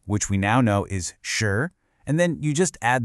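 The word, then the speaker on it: 十: Okay, so the entire system is built on one single crucial character, this one right here, shi. It's pronounced shi with a nice rising tone.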